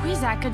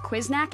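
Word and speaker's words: Quiznak: What the quizaka just happened? It's pronounced quiznack, and I have...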